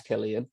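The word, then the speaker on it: Cillian: How do you pronounce his name? Killian Murphy. I think it's Killian.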